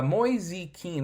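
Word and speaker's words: Moise Kean: i gotta tell you moyes keen moisie uh moisey keane i believe that's how you say his name has been so huge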